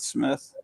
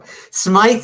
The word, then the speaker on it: Smythe: okay it's spelled s-m-y-t-h-e I used to call him Smith when I was a kid and my dad would always say it's Smythe it's Smite and he was right I was wrong you